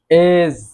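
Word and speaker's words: edge: দেন রয়েছে এজ, এজ অর্থ প্রান্ত বা কিনারা, এখানেও ডি লেটারটি সাইলেন্ট থাকবে।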